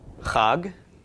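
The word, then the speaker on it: חג: followed by a gimel so we have the hub of the hate the off of the comments and the good of the gimel altogether is pronounced cog and cog is a festival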